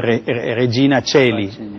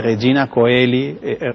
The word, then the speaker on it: Regina Coeli: En Italia nadie diría curriculum vitae, pero diría vite, porque el diptongo AE se pronuncia E en latín, así como el diptongo OE. Entonces Regina Celi. Acá se dice Regina Coeli, curriculum vitae, porque bueno, en la tradición española permaneció eso.